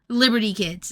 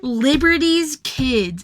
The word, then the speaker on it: Liberty's Kids: Yeah, Liberty Kids is what I always called it. But then I read the title, and it's Liberty's Kids, and I was like, oh shit, I've been saying it wrong my entire life.